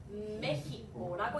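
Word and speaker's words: México: 그래서 어떻게 읽죠? 메히코라고 읽습니다.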